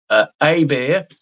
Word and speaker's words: Hebert: It's spelled Hebert. Hebert is the pronunciation.